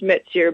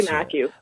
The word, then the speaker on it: Mathieu: It's French. It's pronounced Mathieu, but you can say Matthew.